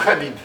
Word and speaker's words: Khalid: Prononce Khalid. Khalid. Khalid. Khalid. Je trouve ça drôle parce que surtout les Français, ils n'arrivent pas à prononcer.